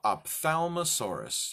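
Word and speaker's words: Ophthalmosaurus: see in dark situations so this is called op thalmus horas you want to say with me it's not too hard op FAL mo Sarris now here we go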